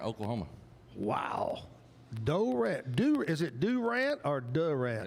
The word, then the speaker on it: Durant: Is it Durant or Durant? It's just kind of one syllable, kind of all Durant.